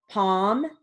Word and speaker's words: palm: now moving on to silent l words with sentences so we have half palm talk psalm walk folk all right here